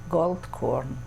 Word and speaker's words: Goldkorn: Gold Corn.